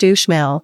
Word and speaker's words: Uxmal: Pronounced Uxmal, Uxmal's size and uniqueness make it a fascinating stop for ruin lovers and novices alike.